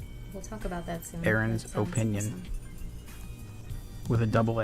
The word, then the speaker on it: Aaron: Aaron's opinion. Awesome. With a double A. A-A-R-O-N. Aaron. How do you actually pronounce that? Aaron? It's Aaron. It's still Aaron.